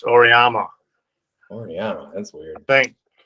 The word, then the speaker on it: Auriemma: Not Arima, it's Auriemma.